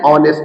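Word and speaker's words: honest: बट the initial letter H इज not pronounced.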